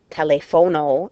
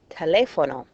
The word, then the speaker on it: teléfono: Again, these are things like saying telefono instead of teléfono.